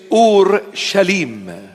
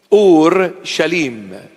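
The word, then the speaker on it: ܐܘܪܫܠܡ: The proper pronunciation is Ur Shalim. Ur Shalim. That is the proper pronunciation in Syriac, Aramaic language. Ur Shalim.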